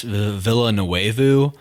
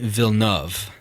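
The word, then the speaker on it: Villeneuve: I just correct myself I've said Dennis Villa no wayu like this whole time we've been doing the podcast anytime we reference him it's Denise VNV that's how you say it that's probably an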